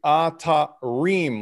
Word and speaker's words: Atarim: the ellipses and like phonetically atta rheem like eem so i don't want